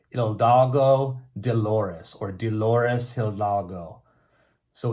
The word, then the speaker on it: Hidalgo: We have Miguel Hidalgo. Miguel Hidalgo. Okay, the H is silent. I had to learn that. Okay, so Miguel Hidalgo, he's considered the father of Mexico.